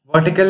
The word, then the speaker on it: vertical: Vertical, an adjective, it means upright, and its pronunciation is stressed on verse syllable, and here's the usage.